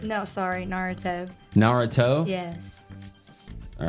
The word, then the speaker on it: Naruto: How do you pronounce it again? Narutar. Naratar. No, sorry. Naruto.